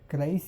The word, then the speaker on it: Chryseis: Correct pronunciation. I don't know if he did it or not, but I think it's like this: Briseis with Achilles, and Chryseis with Agamemnon , and then they decide in the final.